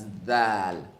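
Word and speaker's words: ذال: That's dal, like the th in father or mother.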